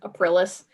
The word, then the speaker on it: Aprilis: central focus on another character called aprilis like april but aprilis she's not donna but